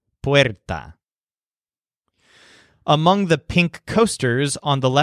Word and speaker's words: puerta: For this reason, his word for door has the stress syllable wear, puerta.